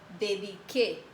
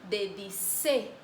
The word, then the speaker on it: dediqué: Para mantener el mismo sonido, vamos a cambiar la C por una QU solo en la primera persona. Verbo dedicar. Yo dediqué. Si yo mantengo la letra C aquí, ¿cómo sería la pronuncia? Yo dedicé. Entonces no se queda bien.